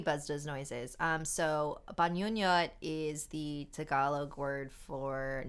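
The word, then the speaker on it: bangungot: listeners thank you buzz does noises um so banyonnyot is the tagalog word for nightmare it's so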